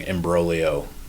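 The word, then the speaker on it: imbroglio: think we should bring embolio which is a great Italian word with a silent G which is just to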